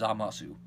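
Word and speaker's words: Zamasu: Yui salient eating Japanese yes I know it is silent but the dub is pronouncing the U so since this is more based on the dub I'm gonna pronounce as amo su one question I'd love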